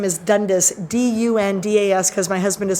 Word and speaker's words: Dundas: uh one time and the gentleman informed my husband uh sir you are mispronouncing your own name and my husband's like i am he goes yes it is dundas and my husband's like